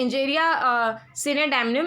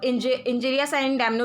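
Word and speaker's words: injuria sine damno: पहले legal maxim है इंजेरिया सिने डैमनम, इसको इंजेरिया साइन डैमनो भी बोलते हैं, लेटिन वर्ड है तो प्रोनाउंसिएशन में आपको वेरिएशन दिखेगी।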